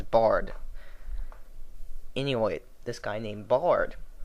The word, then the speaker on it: Bard: think I called him Baron all three times his name is Bard anyway this guy named